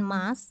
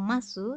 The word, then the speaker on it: masu: Nah, di situ untuk kata des dan mas itu tidak diucapkan desu atau masu, tetapi cukup diucapkan des mas.